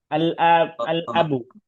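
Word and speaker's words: الأب: আল আবু, আল আবুর সাথে ক্লাস তাহলে উচ্চারণ করছি, পারছি কি পারি নাই?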